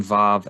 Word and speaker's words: Vav: There's also poems that have rhyming schemes and rhyming words using Vav as Vav sound and not a Wa sound.